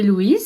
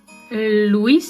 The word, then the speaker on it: Louis: Ah, il y a deux syllabes mais les français le prononcent en une syllabe.